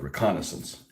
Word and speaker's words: reconnaissance: I prefer British spelling, American pronunciation. I cannot call the reconnaissance element what you guys call it. I can't call it that. It sounds so wrong on so many levels to have a hard C sound in that. So I just call it reconnaissance.